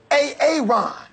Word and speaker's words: Aaron: I said it like four times, so why didn't you say it the first time I said A-A-Ron? Because it's pronounced Aaron?